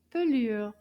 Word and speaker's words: pelure: In French, we call this une pelure. Pelure. Let's clap to find out how many syllables. Combien de syllabes dans le mot pelure?